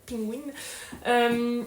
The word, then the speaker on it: Penguin: C'est dans la collection Penguin Classique, prononcé à la française, Penguin.